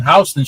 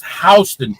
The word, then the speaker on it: Houston: particular street is pronounced Hston. Just in case you go to Manhattan and you see it, you see the sign, it's spelled the same way, but it's pronounced differently.